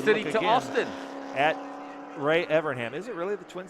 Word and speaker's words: Evernham: Evernham.